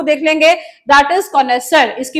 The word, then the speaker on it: connoisseur: इसको वर्ड को देख लेंगे, दैट इज कॉनेसर। इसकी प्रोनाउंसिएशन ऐसे है।